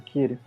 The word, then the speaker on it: Kiri: É Kiri, né? Assim que se pronuncia. Isso, Kiri.